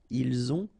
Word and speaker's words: ils ont: the two, vous avez, ils ont, okay, final T not pronounced, and then we make the liaison, ils ont, elles ont.